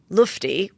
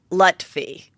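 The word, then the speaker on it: Lutfi: side meanwhile i follow sam lufty wait that's how i say it wrong sam lutfey okay sam lutfey that was the guy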